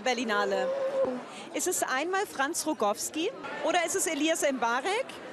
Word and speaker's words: Rogowski: Ist der Nachname richtig ausgesprochen? Rogowski.